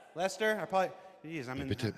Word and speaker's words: Leicester: How do you say is that Lester? Lester. Lester.